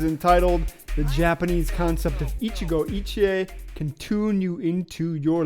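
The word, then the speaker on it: 一期一会: It's pronounced Ichigo Ichie.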